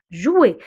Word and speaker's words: jouer: Alors, jouer. Le OU, on le prononce OU. Alors, jouer. Le R, on le prononce E. Alors, on dit jouer.